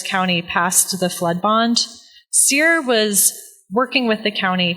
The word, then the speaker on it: CEER: Is that how you say it, CEER? CEER.